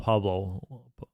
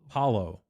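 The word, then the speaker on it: Paolo: say his name right oh not Pablo Paulo Paulo Paulo oops Paulo Panero Orlando's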